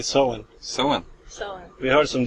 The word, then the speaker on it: Soen: We say so. So, so we heard some different pronunciations, but so is how we pronounce it anyway.